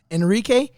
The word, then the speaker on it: Henrique: now once again Instagram Enrique could I shut you it's because the H is silent it's all weird about